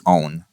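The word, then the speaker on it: -one: own or you know you might be temp to say one but it's own as far as the pronunciation goes uh and as far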